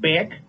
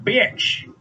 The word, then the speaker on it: Bitch: Yep, that's how it's spelled and pronounced. Not Bick, not Beesh. Mr. Bitch.